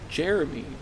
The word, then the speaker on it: Jere-Me: For whatever reason, she wants to name this hypothetical child Jere-Me. It's pronounced exactly like Jeremy, but it just isn't right for those listeners at home.